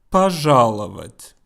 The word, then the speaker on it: пожаловать: Пожаловать. Okay, if you're having trouble pronouncing this word, then try this. Вать, авать, лавать, жаловать, пожаловать.